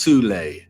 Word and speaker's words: Thule: Regime, there existed an occult secret society within Germany called the Thule Society, sometimes alternatively pronounced Thule, that had sub-factions within it.